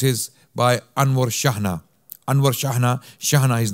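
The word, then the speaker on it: Chejne: Anwar Shahna, his name is spelt, his surname is spelt with C-H-E-J-N-E. Okay, you may think this is a strange spelling of Shahna, but this is how his name is spelt. Anwar, A-N-W-A-R, Shahna, C-H-E-J-N-E. Okay, and the book is titled The Moriscos.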